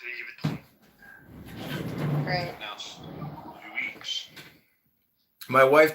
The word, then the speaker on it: Louis Vuitton: It's pronounced Louis Vuitton.